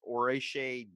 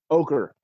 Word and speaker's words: ochre: I guess orache jelly mega ochre.